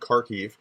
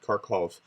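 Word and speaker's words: Kharkiv: Odessa they do want kharkif it's pronounced car key not karkhov uh and so um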